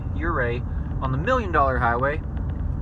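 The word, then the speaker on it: Ouray: have to go through your a i believe the o is silent on that o u r a y your a on the million dollar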